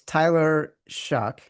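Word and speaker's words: Tyler Shough: It's Tyler Shock, spelled S O U S H O U G H, but pronounced Shock as in Oh, This guy's our quarterback.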